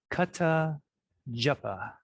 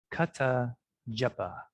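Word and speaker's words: kathā japaḥ: So, kata japa. Kata japa. Try it on your own. Kata japa.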